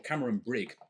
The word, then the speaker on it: Cameron Bridge: And this is from a distillery called Cameron Bridge, or Cameron Brig, it's often known as well. The slightly more Scottish pronunciation.